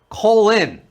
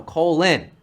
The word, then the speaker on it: Colin: Colin. That's how you pronounced his name. Colin? No, Colin.